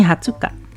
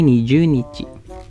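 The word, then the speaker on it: 二十日: 14 beda sendiri juoka 20 di sini hatsuka tapi kita juga bisa bilang ini niju nichi ini oke niju nichi walaupun jarang dipakai karena lebih sering dipakai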